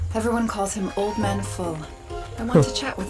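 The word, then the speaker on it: Voll: Everyone calls him old man full. I want to chat with full, but it's spelled V O L.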